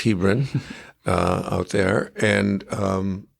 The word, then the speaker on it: Hebron: My family actually lived in little town called Hebrin. Some people pronounce it Hebron, but it's Hebrin uh out there.